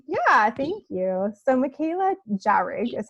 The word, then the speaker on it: Jahrig: So Mikaela Jahrig is how you say your last name, right?